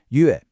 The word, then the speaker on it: 乐: It's not a like in play. It's a short e sound, like in the word get. 乐.